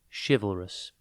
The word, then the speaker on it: chivalrous: time today's word is chivalrous it is pronounced shiv L Rus and spelled c h i v a l r o u s think shiv Al and then Russ chivalrous is an adjective